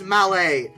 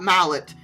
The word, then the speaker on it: Mallet: It's it's it's it's malle, not mallet.